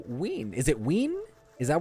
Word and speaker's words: Samhain: Samhain is pronounced Samhain.